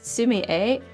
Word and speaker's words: Sumi-e: And it's Sumi-e, I believe is the pronunciation of the ink wash style.